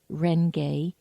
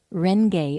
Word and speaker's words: Renge: Nam Myoho Renge Kyo.